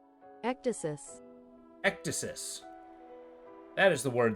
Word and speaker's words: ecdysis: The Ecdices Club. What's the EC Dices? Alright, give me a sec. Pronunciation? Ecdysis.